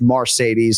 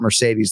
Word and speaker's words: Marcedes: research is accurate, that it is indeed pronounced Marcedes and not Mercedes like the Benz.